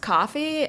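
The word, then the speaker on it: Ko-fi: it was like like it was pronounced coffee um because the way it's spelled it's kind of like how it sounds so it's ko dash fi and i was like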